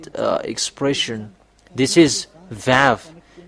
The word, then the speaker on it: vav: When we have seen this one that v equals vav like uh vog as a pronunciation.